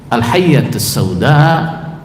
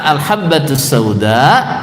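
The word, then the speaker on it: الحبة السوداء: Dia baca gimana? Al-hayyatus sauda syifa'un min kulli da'. Apa hayyatus sauda? Ular hitam. Nah, ular hitam itu obat segala sesuatu. Padahal hadisnya gimana? Al-habbatus sauda shifaa'un min kulli da.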